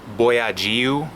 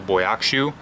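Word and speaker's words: Bojaxhiu: And I just did some research, and I guess it's pronounced Boyagiu as their last name instead of Boyakshu.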